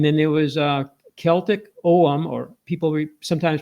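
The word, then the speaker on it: Ogham: Northern Africa, and then there was uh Celtic Om, or people sometimes pronounce it OM. I used to pronounce it ugum, but it's om.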